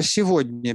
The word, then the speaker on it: сегодня: Ну, например, слово «сегодня» пишется «г», а читается «в».